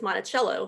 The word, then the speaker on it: Monticello: of the town of Monticello, as compared to how we pronounce Jefferson's estate as Monticello here in Virginia.